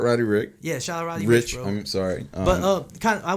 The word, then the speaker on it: Roddy Ricch: Are you sure it's not Rick?